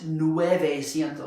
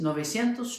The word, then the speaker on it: novecientos: sankini Atos a little irregular it's not quite Nueve ciento Slyke all these others are you just you don't see the number in there exactly nobody at those how do you say 36 trade you say it's novecientos trade that he says and then we have